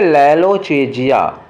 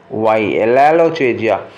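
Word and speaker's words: lalochezia: देखो फिर गड़बड़ हो गया, स्पेलिंग फिर से लिखूं, तो वो वर्ड है लैलोचेजिया, LALOCHASIY, लैलोचेजिया।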